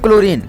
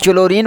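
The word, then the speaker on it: chlorine: है उच्चारण ठीक है इसे क्लोरीन को आप चुन ओरियन पढ़ोगी क्लोरिन बताओ तुम ही ठीक है इस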